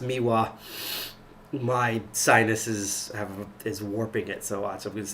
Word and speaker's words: MIWA: I know it's pronounced um I know it's pronounced miwa my sinuses have is warping it so odd